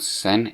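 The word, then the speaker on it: Xen: This remake completely changed how it looks, and noticeable change between games, and why it's rated with X, but it's pronounced with Z, not with Z. Because it turns out Zen in Half-Life was rushed, from what I heard.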